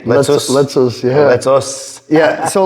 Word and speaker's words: Letsos: Is that how you pronounce it? Us at the end? Letsos.